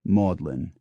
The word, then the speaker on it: Magdalene: Cambridge is keys while Magdalene College Oxford and Magdalene College Cambridge are both pronounced modlin I could go on